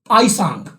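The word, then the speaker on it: Hiuen Tsang: एक होर चाइनीस यात्री आया सी राजा हर्षवर्धन के दरबार च, आईसांग, टी साइलेंट आईसांग।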